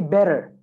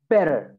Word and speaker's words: better: Because in American accent, when we have two T's, okay, together, like here, two T's. So you would replace that with a sound that it's almost like a D sound.